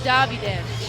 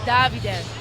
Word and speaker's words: Davide: Can I correct you? Davide. I'm Italian. He was born in Italy. It's Davide Doria. He's going by full-on Italian pronunciation, which is awesome.